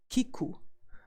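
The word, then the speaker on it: 聞く: hear or to listen we pronounced to hear or to listen as Kiku and good way to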